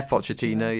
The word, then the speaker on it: Pochettino: Yeah, Pochettino.